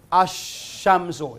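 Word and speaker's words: الشمس: Katulad ng kalima na ash-shamsu. Hindi nabibigkas yung L. Walang diretso ka lang sa ash-shamsu, hindi nabibigkas yung lam.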